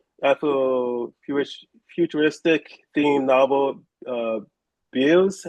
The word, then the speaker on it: Bealz: He is currently ca celebrating the publication of his debut ath futuristic themed novel uh bills. How do you actually pronounce the the name and the character?